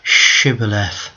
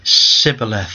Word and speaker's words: Shibboleth: Then they said unto them, "Say now Shibboleth." And they, "Sibboleth," they said. They could not pronounce the word, so they took them, and they slew them there in the passages of Jordan.